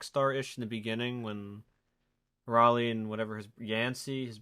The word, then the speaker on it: Raleigh: didn't know that the main character's name was riley or rayleigh raleigh riley north carolina i always thought it was riley and everyone's just saying it wrong oh it's raleigh yeah because like the australian guy something like